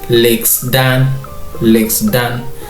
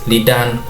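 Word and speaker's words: lixdan: If we were to read the way it is, it would be, the 60 would be legs dan. But somehow from my research, the Somali language is the X kind of is silent, so this would be pronounced as lidan, lidan. So the X somehow is kind of silent.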